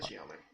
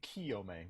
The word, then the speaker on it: Chiome: It's Full. CH, man. It's Chi. I said Chiome. You guys keep saying Kiyome with a K.